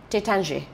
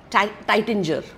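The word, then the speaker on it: Taittinger: from the house of टेचांजे okay तर आपण आता इंग्लिश वाचलं तर आपण म्हणू टायटिंजर पुष्कळ इंडियन म्हटल टायटिंजर बॉट हा द स्पेलिंग पण मी चे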